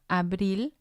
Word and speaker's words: abril: We have abril. Abril. It means April. And again, it has 2 syllables. And the stress is going to be on the last one, which would be number 1.